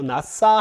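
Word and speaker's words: נָשָׂא: 나싸 하면은 이거 씬입니다. 쉰이 아니라 나싸 하면은 들어올리다.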